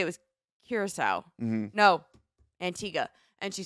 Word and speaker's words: Antigua: you there but that's Antigua that's how it's pronounced and that's how the island people pronounce it I feel like they could have just taken out the U H well I mean